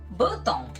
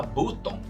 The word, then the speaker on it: button: Aí é que tá o problema, não se fala button. Primeiro, que o som do U não é U, é A. E segundo, que esse O aí é uma letra muda na palavra.